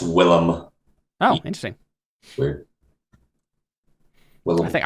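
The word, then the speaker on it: Willem: defo not William defo is it yeah it's Willam oh interesting weird I think I'm pretty sure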